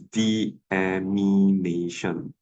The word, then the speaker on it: deamination: the amination okay uh I know my pronunciation may not be very clear but please don't write this uh animation now okay I I always see this error okay I hope it's not due to my poor pronunciation okay it's deamination okay can so so this